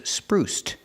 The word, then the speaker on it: spruced: change it to past Spruce in the past is spruced making the T sound spruced spruced it up